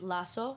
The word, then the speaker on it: Lazo: And people say it's, the way you say it is Lazo, so like double S-O, like L-A-S-S-O, but it's spelled with a Z.